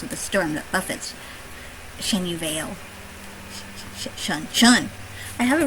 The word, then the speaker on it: Chenyu Vale: dis th source of the storm that buffets shenu Veil Shan Shan I have it written down here